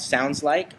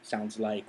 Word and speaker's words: Soundsl!ke: okay second question is is it pronounced differently with the exclamation point yes yes you really want the inflection on that exclamation point you really want to yell it sounds like that okay so that's we're